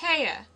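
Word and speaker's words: Haigha: happy his name is Haya he pronounced it so as to rhyme with mayor I love my love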